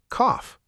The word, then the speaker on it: cough: Word one, cough. Cough, like when you're sick. Exactly. That o u g h makes an off sound. Cough, like coffee without the e.